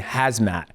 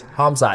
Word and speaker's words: Hamzat: So when I see stuff and when I read it, you know, like Hamzat, I was saying hazmat. And my producer's like, no, dude, it's not hazmat, it's Hamzat.